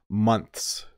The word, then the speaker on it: months: is out and I I pull my tongue in when I make the plural months months months so I'm making I'm pulling my tongue in and making an S sound when I say the plural okay let me get